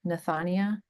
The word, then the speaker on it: Nathania: And how about you Nathania? Did I say that correctly? Nathania. Yes. I always like to say it kind of rhymes with like lasagna.